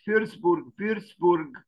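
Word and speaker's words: Würzburg: we arrive at this famous residence or Palace firstburg residence the W in German I know this is is pronounced V and the V is pronounced f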